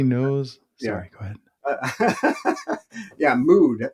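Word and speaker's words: Müd: Yeah, Mood. It's spelled mud, M-U-D, with a little umlaut over the U.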